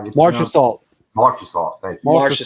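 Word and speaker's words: Marchessault: I know the name, but I'm going to mispronounce it. Is it Mirashat? Is that what it is? How do you Marcia Salt.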